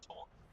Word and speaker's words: taunt: We call our aunts taunt. Like T-A-U. It's like a T in front of aunt. So the word aunt with a T in front is called, we pronounce it taunt.